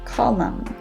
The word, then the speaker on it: column: to the silent n the n sound is not pronounced when it follows an m as in mary for example the words column and autumn moving on to silent